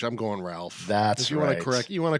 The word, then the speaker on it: Ralph: Do you say Ralph or do you say Rafe? I've heard different things. I mean, if it's R A L P H, I'm going Ralph.